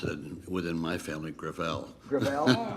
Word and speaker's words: Gravel: next Witness uh Senator gravel with all due respect let me correct I pronounce it within my family gravel gravel it's a French name thank you I want